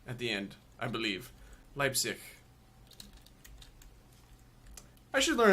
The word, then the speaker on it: Leipzig: in America course and we would say leap Zig but it is Leipzig lips what Leipzig it's a soft it's a soft like CH at the end I believe Leipzig I should learn how